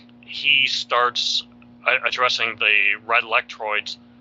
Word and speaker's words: Lectroids: starts addressing the red Lectroids, I don't even know if I'm pronouncing that right. That's right. Yeah, Lectroids is right.